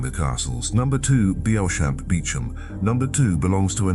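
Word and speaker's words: Beauchamp: A name that is in its English pronunciation completely unrecognizable as what its spelling announces.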